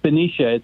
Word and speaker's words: Benicia: And Bart in Benicia, California. Is that how you say it, Bart? Yeah, it's Benicia.